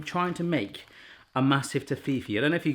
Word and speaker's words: Toffifee: I am pronouncing that right, aren't I? Toffifee.